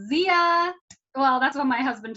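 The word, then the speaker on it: Xiya: launched and it's called zia well that's what my husband told me it's called zia it's spelled x i y a and you should totally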